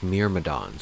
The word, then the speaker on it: Myrmidons: Okay, it's pronounced Myrmidons.